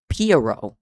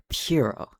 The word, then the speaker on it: Pierrot: How to pronounce period. 2 R's. Pierrot. I fucking hate the French. Pierrot.